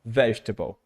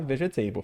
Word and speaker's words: vegetable: Que não tem, graças a Deus, mas é como se tivesse no E. Então, vegetable. Beleza? Então, não fale vegetable, fica feio, tá? Vegetable. E olha, via de regra,